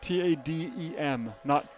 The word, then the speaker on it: Tatum: Tadem, not Tatum with a T.